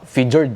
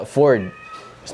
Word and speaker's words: Fjord: O ayun ang pronunciation niya ay Fjord. Yan. Paano ko nalaman? Syempre ginogle ko. Ang unang basa ko nga figured eh. O kaya Ford's may silent letter. Pero ang pronunciation pala ay Ford.